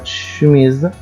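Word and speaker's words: chemise: فوتو فوتو صوره كمان السي اش بتساوي الاس اش كلمه شميز شميز يعني ا قميص فالصوت ده بيديني صوت الش كلمه سيون لما نشوف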